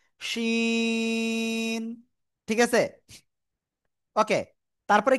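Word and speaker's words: شين: হ্যাঁ, শাসা শব্দ করে 3 আলিফটা নিয়ে উচ্চারণ করব, শিন।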